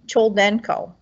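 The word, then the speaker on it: Choldenko: her name right children chol denko chol denko i think i always want to add extra syllables to it so al capone does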